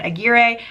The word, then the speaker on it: Aguirre: Durst by Anne Aguirre. I did learn that that last name is pronounced Aguirre, not Aguirre.